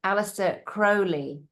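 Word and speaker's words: Aleister Crowley: And I heard someone the other day who's a um he says it's Alistister Crowley, pronounce it properly.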